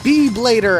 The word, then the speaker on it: B-Blader: He is a B-Blader. Actually, they would pronounce it a B-E-E Blader, but here is just the regular letter B.